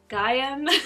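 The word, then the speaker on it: Gaiam: i use i think the brand is pronounced gm gaium i got that one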